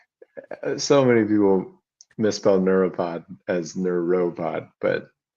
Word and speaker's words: Neura Pod: How do you pronounce it? Yeah. Neuropod. Yeah. Not neuro.